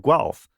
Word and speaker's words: Guelph: So I work for a university called the University of Guelph. That's how it's pronounced.